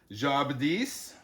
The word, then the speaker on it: Jadis: means Little Star uh Jadis is a character we see later on in the story jais jaab D so the emphasis is usually on the last syllable there d another character a word